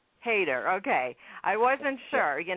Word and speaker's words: Hayter: I'm actually changing it to Hyder so that this interview will be more comfortable. It used to be pronounced Hayter. Hayter, okay.